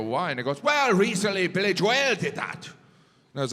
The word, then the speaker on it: Billy Joel: started going through every conversation i had on billy joel i'm like did anyone else say billy joelle when i said billy joel did anyone look